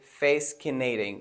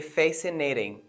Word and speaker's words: fascinating: the example fascinating fascinating we don't say face Canadian we say fascinating now fascinating refers to something which is entrusting right so the letter is is uh sorry the letter c is silent why because it's after s and other examples such